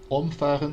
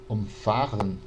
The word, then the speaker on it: umfahren: Umfahren, quando a gente tem a sílaba tônica no significa atropelar, né? Passar por cima. Se eu digo umfahren, né, com a sílaba tônica no fa, é justamente o oposto de umfahren.